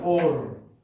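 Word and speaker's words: אור: Se pronuncia Or.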